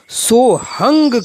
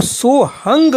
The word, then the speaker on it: सोहम: समय चल रही है वहां सोहंग शब्द का उच्चारण सोहंग किया जाता है यानी लिखने में तो सोहम है मगर इन प्राचीन परंपरावादी गुरुओं के माध्यम से जो इसका उच्चारण करते हैं वह सोहंग करते हैं तथा व्याकरण के विद्वान